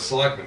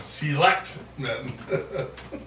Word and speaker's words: selectmen: He always put the emphasis on the second syllable instead of selectmen. He said selectmen.